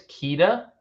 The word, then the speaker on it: Queta: I think it's Queta. If I was listening to the broadcast correctly when they were in that Atlanta game, I think it's Neemias Queta, but.